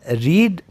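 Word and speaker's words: read: रेड रेड हां बच्चों मैंने जो सेकंड और थर्ड वर्ब है पढ़ने का वो मैंने प्रोनाउंस किया है रेड जैसे लाल रंग होता है ना उसी तरह आप इसको प्रोनाउंस करोगे यही फर्क बताता है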